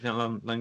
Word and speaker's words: Langella: Langella.